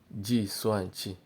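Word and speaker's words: 计算器: Pronounce it. Tou yin ji. Now number 14. We have calculator. Calculator. Ji Suan Chi.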